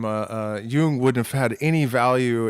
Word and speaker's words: Jung: Jung actually is, I think, the... proper pronunciation.